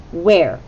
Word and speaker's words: where: are you elbows up where okay begins with a wh then it has the e sound and this one's tricky because it has the r but then there's a silent e where now the wh